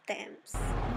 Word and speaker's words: Thames: So today our plan is to go to Thames. It's actually pronounced as Thames.